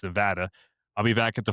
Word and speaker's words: Nevada: Because I said Nevada, I got yelled at. It's Nevada.